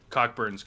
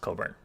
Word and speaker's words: Cockburn: kind of didn't happen cockburn's kind of yeah but coburn is definitely definitely the best player on this team cockburn cockburn i've i've heard i think it's actually pronounced coburn i know but but